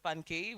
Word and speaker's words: FunKE: co-founder and CEO of FunKE Science. We have several pronunciations we've had. It could be Nigerian, Funke. It's not. It's still FunKE. There's also FunKE, which Lillian has said, no, it's FunKE Science.